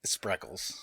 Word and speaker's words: Spreckels: i don't like it sprinkles spreckels yeah feels like you up trying to say sprinkles or speckles it was a 12